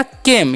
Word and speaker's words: came: सी का उच्चारण क्या करना है क, ए का एकले, एम से म, तो हो गया केम, यानी कि लास्ट वाला ई का उच्चारण नहीं करना है।